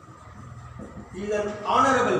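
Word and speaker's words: honourable: খেয়াল করো এইচের উচ্চারণ কিন্তু এখানে এই ওয়ার্ডে এসেছে হচ্ছে না, আমরা ও থেকে শুরু করি উচ্চারণের সময়, অনারেবল হয় না, তাহলে এইচটা উচ্চারণে কাটা যায়, তাহলে এইসব ক্ষেত্রে এন হবে।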